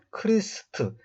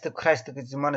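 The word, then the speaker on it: Christ: 영어로는 크리스트, 헬라어의 크리스토스를 갖다가 그 크리스토스가 갖고 있는 의미를 정확하게 옮긴 것이 크리스트입니다. 요즘 우리 발음으로는 요즘 사람들은 이제 크라이스트지만 사실 이건 틀린 발음입니다.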